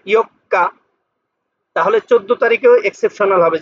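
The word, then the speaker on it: 四日: তারপর আবার এখানে ইও, এখানে হলো ছোট করে আছে, তাহলে কাটা দুইবার উচ্চারণ হবে, ইয়ক্কা 4 তারিখ।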